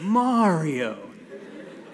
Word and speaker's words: Mario: I'm like, it's the same in Japanese. And it's like, but it has to sound American. So it's like, Mario. And then he's like, oh, yeah, Mario.